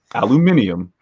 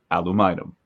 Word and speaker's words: aluminum: outside of the uk would say aluminium when it is obviously pronounced aluminum aluminum yeah that's new to